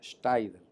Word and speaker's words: Steidel: Decimos Steidel porque lo castellanizamos, pero la pronunciación correcta es Steidel. Pero todos en Maunabo lo pronunciamos Steidel. En algunas personas que conocen el idioma alemán, pues lo pronuncian en alemán, pero proviene de alemán